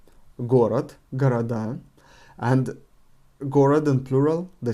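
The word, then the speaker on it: города: would be gorad again first the emphasis from the first or is false on the last ah gorath and gorad and plural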